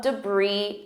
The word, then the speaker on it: debris: For example, there was a lot of debris after the storm. And notice my pronunciation compared to the spelling. Debris, E. Do you notice that debris, brie, sounds exactly like brie cheese?